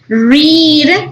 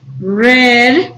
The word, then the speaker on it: read: with this one because the spelling is the same but the pronunciation is different read in present red in past okay right row ring